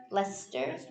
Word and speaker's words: Leicester: the leicester game did i say it right lester yeah okay chris was too busy with the lester game and he wasn't quite as responsive as